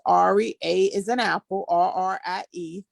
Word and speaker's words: Arrie: Again, it's Ari, A is an apple, RRIE, kind of spelled like India Irie, but Mm-hmm. with two R's.